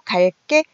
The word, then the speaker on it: 갈게: 자, 발음은 마찬가지로 갈게, 된소리로 발음이 나고 있어요.